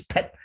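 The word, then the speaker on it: phaṭ: by saying the syllable the tibetans say pay but as in sanskrit it's pet you imagine shooting that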